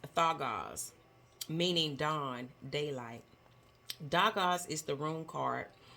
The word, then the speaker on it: Dagaz: The pronunciation of this word, of this rune, is Thagaz, meaning dawn, daylight.